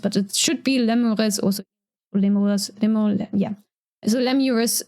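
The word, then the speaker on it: lemures: can't be 100% sure how Latin was actually pronounced but it should be lures also limo yeah so lurus is obviously how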